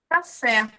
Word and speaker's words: café: This is a café. A gente pronuncia da mesma forma que fala em português.